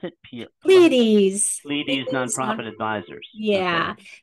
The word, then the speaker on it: Pleiades: How do you pronounce it? Pleiades.